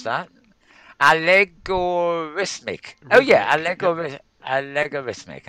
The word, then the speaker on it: Allegorithmic: Um, Adobe have acquired a company called Allegoramis. I can't pronounce that. Allegorithmic.